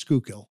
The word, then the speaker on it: Schuylkill: So when people say, you're from the Schuylk, I said, it's pronounced Schuylkill.